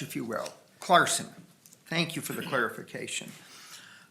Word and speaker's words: Chlarson: front scharon your honor it's clarson just pretend the CH is a k oh well thank you a silent h if you will clarson thank you for the